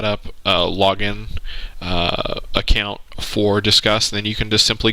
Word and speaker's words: Disqus: Once again, go into plugins, go to add new, and type in Discuss, and it's spelled DISQUS. Yes, I know it looks odd.